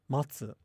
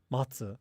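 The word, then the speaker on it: 松: Okay, so these are actually pronounced the exact same. So pine tree in Japanese, matsu, and also the verb for to wait, matsu. They're the same.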